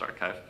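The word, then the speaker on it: arXiv: the paper on archive the archive but with an X I think it's pronounced archive.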